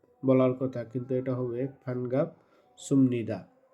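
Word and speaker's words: 반갑습니다: কথা, কিন্তু এটা হবে ফানগাপ সুমনিদা। তো সুমনিদা কেন হলো, এক্ষেত্রে বিউপ আছে, তো এখানে নিউন আছে। নিউনের আগে যদি বাচ্ছিম থাকে বিউপ, তাহলে সেটা ম হয়ে যাবে, ম উচ্চারণ হবে।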